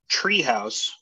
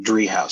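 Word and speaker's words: Driehaus: the richard h dre house foundation that's the pronunciation tree house and people would always say tree house and i would have to correct them and say dree house so it's a wonderful small uh foundation here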